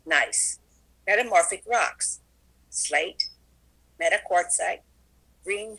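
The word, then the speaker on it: gneiss: igneous granite changes into g-n-e-i-s-s pronounced nice metamorphic rocks slate metaquartzite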